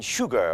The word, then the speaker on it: Huger: of a Miss u a Benjamin Huger or they pronounce it uji there in South Carolina